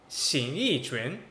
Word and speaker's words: Xing Yi Quan: It's spelled X-I-N-G space Y-I space Q-U-A-N. Xing Yi Quan.